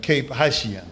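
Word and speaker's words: Cap-Haïtien: And when we got there, we had a debate whether to go to the Citadel in Cape Haitien.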